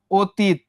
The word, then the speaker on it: অতীত: অতীত প্রথমে একটা কি ছিল? অ ছিল, তারপরে এই যে দেখো কি যুক্ত ছিল, এটা দীর্ঘই। এই যে অর সঙ্গে যদি দীর্ঘই যুক্ত হয়, উচ্চারণটা কিসের মতো হওয়ার কথা? ও এর মতো হওয়ার কথা। তাহলে এই ওটা কি হয়ে যাবে? ও হয়ে যাবে না?